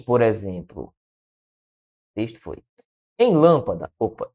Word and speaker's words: lâmpada: Em, por exemplo, texto foi em lâmpada. Opa, e lâmpada ficou faltando só cinha aqui. Calma. E foi. Em lâmpada, o que é que nós temos? Lâmpada, a sílaba tônica é a antepenúltima.